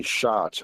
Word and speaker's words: Schott: used is from Japan, Ohara, I believe it's pronounced, and also from Germany, Schott.